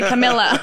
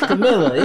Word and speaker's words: Camilla: So, it's really Camilla. It's Camilla. Yeah. See, that's what I mean. So, yours Camilla.